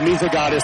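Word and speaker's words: Misegades: How does that one pronounce? I actually found a little video of Kale Misagotis introducing himself uh in a video piece. So, and then I talked to the broadcaster from Henning and he agreed that yeah, that works.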